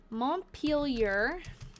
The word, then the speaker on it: Montpelier: Father and I went to Montpelier, that's how you pronounce it, and did some trading and came home.